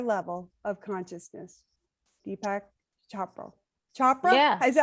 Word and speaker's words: Chopra: Chopra? Yeah. Is that how you say it? Chopra.